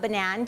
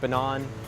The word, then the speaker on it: Banan: we also love that people don't know how to pronounce it. There's tons of people saying Banan or Banan, or sometimes we even call it Banan.